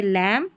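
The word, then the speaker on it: lamb: है ना, देखिए एम बी है ना शब्द के अंत में, तो बी क्या रहता है यहाँ पर, ये पढ़ा नहीं जाता, एम बी साथ में रहता है आखिर में, तो यहाँ पर बी साइलेंट रहता है, जैसे लैम, थम, क्लाइम।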